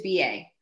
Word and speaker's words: Ba: it is yeah so my father and i pronounce it differently it is true it is b.a so my name is ba i'm the